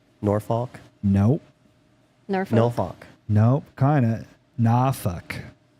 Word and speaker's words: Norfolk: a place there's a place in Virginia spelled n-o-r-f-o-l-k Norfolk nope nope kinda nah NAFA and it's after seven seconds so I can